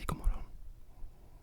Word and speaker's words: god morgon: But in Swedish, for example, it's spelled god morgon, but we just say god morgon. You see how that G, the G sound, morgon, morgon, disappears.